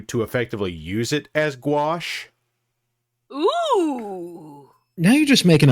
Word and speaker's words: gouache: watercolor artist who uses gouache okay gouache that's a funny word that's difficult to spell it is w a r s h wash oh Grumble well in